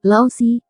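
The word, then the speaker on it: 老师: Lao Si, diucapkan sebagai Si.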